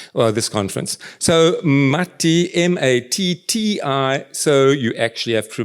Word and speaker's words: Matti: So Matti, M-A-T-T-I, so you actually have to pronounce both things. It's an A sound, it's an A without the dots, so it's Matti.